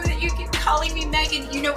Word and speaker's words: Meghan: The H is silent.